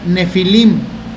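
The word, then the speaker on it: Nephilim: librero no tiene de una palabra que se pronuncia nefilim que significa gigante que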